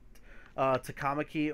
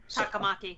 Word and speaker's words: Takamaki: And the way Ans' last name can be pronounced is Takamaki or Takamaki.